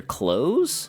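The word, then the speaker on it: Close: on the Liber character clothes who is spelled like closing the door c l o s e not like the clothes I'm wearing which I I thought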